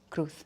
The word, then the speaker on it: Cruz: in the United States saying, "Oh yes, Miss Penelope Kruuth," I would punch them in the face. For the record, what is the correct pronunciation of your name? Kruuth.